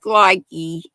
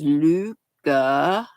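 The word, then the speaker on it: Lykke: pattern I'm using this is one of my Luca Luca hooks it looks like likey l y k k e but pronounced Luca I was told at the Smoky Mountain yarnery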